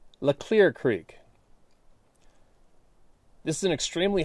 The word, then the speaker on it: Leclerc: stream in northeast Washington State called Leclerc Creek, pronounced Leclerc, Leclerc Creek.